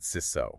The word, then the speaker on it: CISO: And just for everyone, we pronounce that SISO, right?